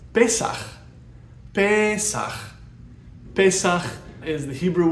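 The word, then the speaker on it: פסח: It's pesaχ.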